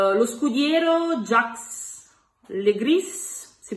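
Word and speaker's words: Jacques Le Gris: E poi il terzo protagonista è lo scudiero Jax Le Gris, si pronuncia così, interpretato da Adam Driver.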